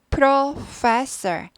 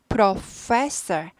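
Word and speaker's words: professor: 프로 패스하기 쉬운데 아니고 프로페서 프로페서 프로페서 이렇게 되죠 그래서 천천히 하시다가 익숙해지시면 돼요 프로페서 표현은 양쪽 위 아래 입술이 딱 마주쳤다가 딱 파하고 갔죠 그냥 파 프 프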